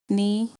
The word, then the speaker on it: knee: examples of silent letters silent k knife KNE no repeat after me knife knee no silent B thumb